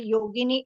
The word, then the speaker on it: Yogini: What we say in the same way, yogini is a version of saints. Right? What right, we can yeah. say. Beautiful. And it rhymes with linguini, if you know what's that.